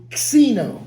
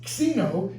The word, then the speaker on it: xeno: that it's related and it should be pronounced actually Xeno like k s together Casino I have a